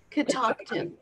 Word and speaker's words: Catoctin: How do you pronounce that? Catoctin.